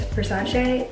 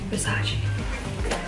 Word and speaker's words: Versace: While we're on the Versace train, the next three items are all Versace. I say Versace, but I know it's Versace, so I'm trying to pronounce things correctly, just like Burberry and not Burberry.